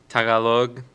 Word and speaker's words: Tagalog: and they speak in I'm gonna butcher this, Tagalog.